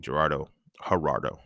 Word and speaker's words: Gerardo: And then I go back to talking to my homie Gerardo, not started with a G, but it's pronounced with H.